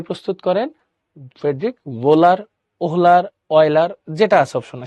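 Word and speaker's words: Wöhler: এই কথাটাকেই 1828 সালে ভুল প্রমাণ করেন হচ্ছে ফ্রেডরিক ভোলার। ফ্রেডরিক ভোলার। উচ্চারণটা হচ্ছে এরকম। ফ্রেডরিক ভোলার, ওহোলার, ওয়েলার অনেকে অনেক রকম বলে।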